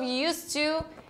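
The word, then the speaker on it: used to: vamos lá examples of Us to in the present and past inclusive você não vai falar esse D você não pronuncia esse D você vai falar US to us to tudo junto US to Tá então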